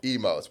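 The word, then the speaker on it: Imo's: Emos, right? But it's spelled I M O S.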